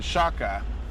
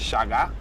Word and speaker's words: Shaka: the Zulu Kingdom in Shaka probably say although dad would shout at me for pronouncing it like that it's Shaga the K is pronounced as a g shulu um probably formed